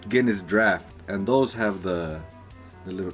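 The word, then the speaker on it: Guinness Draught: Yeah, like if you see Guinness, the cans, they say it's spelled drought, but it's Guinness draft, and those have the little that ball inside.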